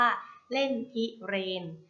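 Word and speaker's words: เล่นพิเรนทร์: ก็ คือ คำ ว่า เล่น พิเรน เล่น พิเรนทร์ อ่าน ว่า เล่น พิเรน เล่น พิเรนทร์ ประกอบ ไป ด้วย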